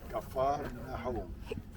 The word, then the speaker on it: Capharnaum: Now we know how to pronounce it again. Capharnaum.